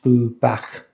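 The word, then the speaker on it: Bwbach: um they'll say um we are bubak which is spelt b w b-w-b-a-c-h boo back and they say we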